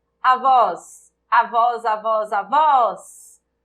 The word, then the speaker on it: avós: Avós, avós, avós, avós. A sílaba tônica é o vós.